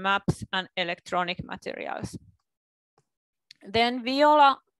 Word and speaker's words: Viola: Then Viola, this is Finnish pronunciation, it's Viola, and it is the